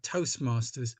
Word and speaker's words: Toastmasters: Another thing, when you talk about Toastmasters, make sure you don't forget the S.